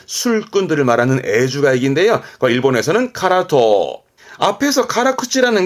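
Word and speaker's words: 辛党: 그래서 발음은 카라토, 카라토입니다.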